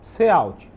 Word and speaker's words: cout: Se fala cout, é assim mesmo que se pronuncia.